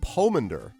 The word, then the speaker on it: pomander: The pronunciation of Pomander has long O. Pomander.